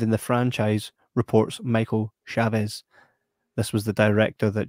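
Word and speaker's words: Chaves: pronounce that name now i watched a youtube video the other day yeah doing a review he said chiefs i'm like no that's chavez that's that name is chavez or chad i think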